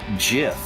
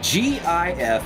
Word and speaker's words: GIF: files which is jif therefore g i f has to be gif because you excuse it with gif there argument set done on the internet you cannot pronounce gif as jif because there's already a gif spelled with a j go eat your peanut